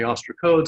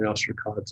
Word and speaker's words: ostracod: and freshwater fresh waters some people call them the ostracodes other people call the ostracods and it just depends on where you learned about and what your pronunciation is but it's not very